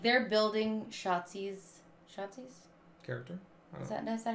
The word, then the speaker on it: Shotzi: I feel like they should have used it to, like, they're building Shotzi's character. Is that how you say her name? Yeah. I just want to say Schlotsky's, but I know it's not Schlotsky's.